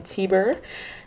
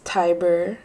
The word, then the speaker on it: Tiber: I was saying Tiber, but it's Tiber. I've only heard a couple people, so I need to hear a more diverse audience pronounce it. But yeah, Tiger with a B.